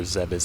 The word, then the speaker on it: Zebes: Fat Kro trying to go to Zebes or Zebas if you want to pronounce it correctly.